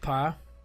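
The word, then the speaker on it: פ: It's pronounced pa, and it comes from the Hebrew word pa, which is pa ha, connected pa.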